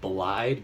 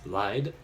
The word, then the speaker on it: Lyde: It looks like Blide, but it's Lyde, is how you say it.